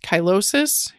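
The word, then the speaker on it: cheilosis: will follow do you ever see people with kylosis which is spelled c-h-e-i-l-o-s-i-s kylosis is related to B deficiencies or folate deficiencies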